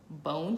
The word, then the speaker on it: Bohne: The address is 12519 West Bone Street. It's spelled Bohne.